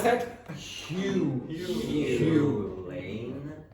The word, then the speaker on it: Hugh: It's Hugh. Hugh. Everyone pronounce that? Hugh.